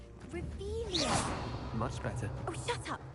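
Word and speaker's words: Revelio: looking in the first place where are you revelus you're saying it wrong rious much better oh shut up wait AO he's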